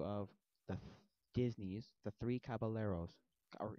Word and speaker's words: Caballeros: Hi, so we're going to be doing a movie review of the Disney's The Three Caballeros, or it's pronounced Caballeros, whatever.